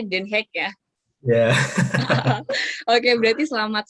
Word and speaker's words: Den Haag: Oh, kita biasanya bacanya Den Haag, tapi sebenarnya bacanya Den Haag ya.